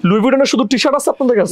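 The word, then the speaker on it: Louis Vuitton: হ্যাঁ তাহলে আপনারা যারা যারা এতদিন এই যে লুইস উইটন লুইস উইটন করছেন প্লিজ দয়া করে মাফ চান মাফ চেয়ে এটাকে এখন থেকে কি বলা শুরু করবে লুইটন লুই উইটন বলা শুরু করবে এটাকে আমরা লুইস উইটন বলবো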